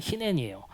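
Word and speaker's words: הנני: 이게 아브라함아 했을 때 아브라함이 히넨이라고 하거든요. 내가 여기 있습니다. 이렇게 발음할 때 히넨이에요.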